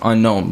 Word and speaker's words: Ennonxo: x o period and it's pronounced unknown but you know that's